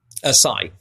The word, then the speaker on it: psi: Does Sai does SAI exist? PSI how's it pronounced? Sai.